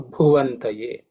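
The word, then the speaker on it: भुवन्तये: Just to highlight the pronunciation aspect, the Bhu actually is the 4th letter in the Pa Varga, so it has to be aspirated. So Bhuvantaye.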